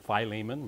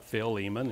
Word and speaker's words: Philemon: turn in your Bibles to Philemon some people pronounce it Philemon but it's I like Phil Eamonn and if you don't know where that's at